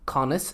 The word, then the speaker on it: Conas: Conas Conas.